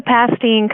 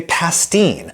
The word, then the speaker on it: Pastene: Anyway, they say pastine. Hardly surprising that they go with an Americanized pronunciation.